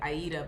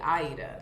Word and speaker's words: Aida: just pronounce it like aida but it's actually aida like the first syllable is the one that gets the stress yes yes yes aida